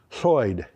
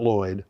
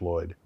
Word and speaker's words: Lloyd: d which is pronounced soy not Lloyd soy except in English it's Lloyd um and in in